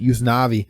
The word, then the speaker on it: Usnavi: U.S. Navy. They pronounce it Usnavi. Usnavi. Usnavi.